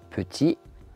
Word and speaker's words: petit: de fluidifier le discours petit le T ne se prononce pas heureux le X ne